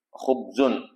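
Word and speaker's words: خبز: Jadi bacanya khubus khubzun ya.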